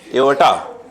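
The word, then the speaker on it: aorta: होता होगा ठीक है द एवर्टा क्या बोला एओटा आप साइलेंट है क्या ये भी साइलेंट है देखो the cross sectional एरिया ऑफ द एओटा ए ए ओ आर टी ए एओटा ठीक है अरे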